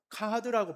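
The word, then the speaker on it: כחד: 여기서 숨기지 아니하고라는 단어는요, 히브리어로 카하드라고 발음을 합니다.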